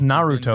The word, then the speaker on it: Naruto: Naruto? I'm trying to teach Luke. It's Naruto.